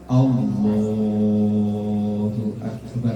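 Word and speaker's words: الله أكبر: Kalau pengen memanjangkan bacaan, bacanya di lafaz lam jalalahnya. Lam jalalah di lafaz Allahnya itu. Allahu Akbar kalau pengen panjang. Tapi kalau di alifnya atau di ba-nya jangan.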